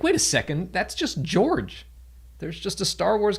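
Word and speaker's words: Jorj: flight and there's literally a character named george but it's spelled j-o-r-j so when you're reading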